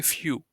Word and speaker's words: für: I mean so yeah it's easy to pronounce it if so you know view right like it's a nice view you know Sunset is a nice view just replace V with f and say few yeah and that's how